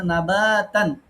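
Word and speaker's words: نَبَاتًا: এই বাতে একটু টানতে হবে। আমরা মাদের ক্লাস ২-১ দিনের মধ্যে নিব। এখানে নাবাতান। আচ্ছা।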